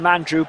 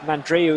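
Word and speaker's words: Mandroiu: Some call him Mandrew, but I think Mandreo is the actual proper pronunciation.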